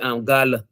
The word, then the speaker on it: gala: When the accent is on the first A, you say gala. Gala That's not business. empty having content. So gala ti budingle, right? Mhm. Gala ti tabarasile. It has in something. Mhm. No, when you talk about people with light complexion, you say gala, gala ti tura, gala Mhm. ti lu. right? The A, the accent is on the second A.